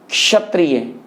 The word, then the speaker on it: क्षत्रिय: यहां भी इसका उच्चारण आप करेंगे क्षत्रिय, क्षत्रिय।